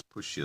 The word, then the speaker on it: Pushya: The excellent root of white gunja must be gathered when the moon enters Pushya star.